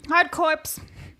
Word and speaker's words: Hard Corps: Hard Corps Uprising Oh, no. Oh, no. Oh, no. I'm confused. The P is silent. Hardcore No, Hard Corps All right, cool.